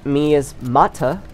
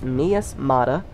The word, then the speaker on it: Miasmata: getting on uh playing me as mata me as mata i was pronouncing it wrong it's miasmata miasmata i was going to